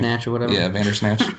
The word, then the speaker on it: Vander Esch: They have one of the best rookie defensive players in Vander, how do you pronounce his name? Vandersnatch or whatever. Yeah, Vandersnatch. Vander Esch.